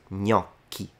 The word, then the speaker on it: gnocchi: Whereas this, we pronounce gnocchi. So once again, we have the situation of the CH that you're already a master of. It's just a K.